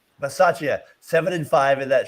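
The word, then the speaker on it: Bisaccia: Versace. Versace.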